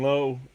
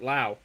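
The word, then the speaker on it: Lowe: But the Pirate defense tonight, it'll be Gonzalez at third, Triolo at short, Brandon Low, Laauo, excuse me. He he pronounces it Lao.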